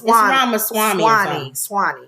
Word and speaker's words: Ramaswamy: So I'm gonna always say his name wrong. It's Ramaswamy.